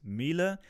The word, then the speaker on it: Miele: II and the name of the manufacturer is pronounced Miele and at least many Germans regard the washing